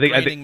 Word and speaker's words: Groening: It is Groening, right? It is Groening. It is not spelled like graining at all, but graining rhymes. It rhymes with raining.